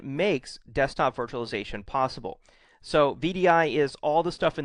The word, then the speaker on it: VDI: what it stands for vdi is pronounced as an initialism not as a word so it's vdi it's not vidy um most people consider